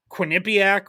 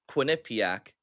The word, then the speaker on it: Quinnipiac: like you said it like nip, like in the middle.